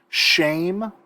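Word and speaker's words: שֵׁם: Let's go through these vocabulary real quick just so you get a pronunciation. Shame is the word for name or reputation.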